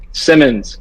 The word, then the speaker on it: Simons: Because it's jarring me, you man saying Simons, but you might actually be right. Javi, tell me, how do you say his name? Simmons.